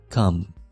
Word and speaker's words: comb: یا برش comb comb دلته کې بی نه تلفظ کېږي comb ږمنځ armchair armchair سپنجی